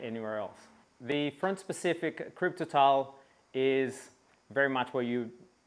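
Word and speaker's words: Kryptotal: here we have the Continental crypto tile or cryptal depending on how you want to pronounce it front specific in the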